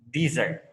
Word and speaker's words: dessert: So the easiest way how to difference by the pronunciation. If you talk about makanan penutup, okay, in Indonesia we call it D, start with I, dessert. Okay, if it is padang pasir, We start with A, desert.